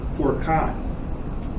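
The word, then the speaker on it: فرقان: And then there is a word, it's pronounced Furqan.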